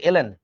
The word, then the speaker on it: ln: লন না, actually উচ্চারণটা কিন্তু ln।